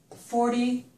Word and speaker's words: forty: When we say these numbers, the numbers in this column always have the stress on the first syllable. I've written some of the numbers over here. So this word is 30, that's this number. 40, it's this number.